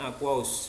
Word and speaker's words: aqueous: Singkatannya aki, bacanya aqueous, singkatan dari aqueous.